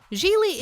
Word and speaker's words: Gigli: worst seduction ever Gigli what my name is pronounced Gigli arounds me really Geely is a romantic comedy with no shortage of